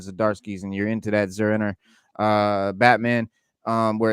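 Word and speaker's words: Zur-En-Arrh: I guess that's how you say it, Zurenar. Zenora. It's not Zenara. It's Zerenor. It's Zurenar. So it's basically he's saying Zurenar, but the way he spells it, it's Zur-N-R, Zurenar. Okay.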